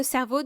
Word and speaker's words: CERVO: Il faut donc s'enregistrer en tant que donneur auprès de centres de recherche universitaires, comme la banque de cerveau du centre de recherche Cerveau, qui s'écrit CERVO, de l'Université Laval.